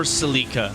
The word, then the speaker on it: Celica: know i'd say yeah is this celica or celica but i think uh americans especially can be more prone to pronouncing it celica yeah which is a